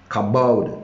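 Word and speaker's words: כבוד: in the in the hebrew means kabald kabod kabod that's how it's pronounced and it means wait hallelujah figuratively in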